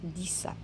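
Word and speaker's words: dix: Alors ici, le X, je le prononce comme S. 10.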